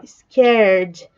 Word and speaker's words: scared: Isso é, ó, scared. É como se eu não estivesse falando esse E.